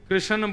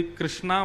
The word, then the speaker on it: कृष्ण: लाल की जय बंधुओं कई लोग इस नाम को अशुद्ध बोलते हैं कई लोग कृष्ण बोलते हैं कई लोग कृष्ण बोलते हैं कोई कृष्णा बोलता है भगवान का नाम शुद्ध उच्चारण करो नाम क्या है कृष्ण भगवान जय श्री